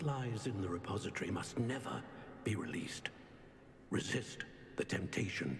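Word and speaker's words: Niamh: Now that you have witnessed Niam's my memory, name is is spelled Niam, but it's that pronounced is at Neve.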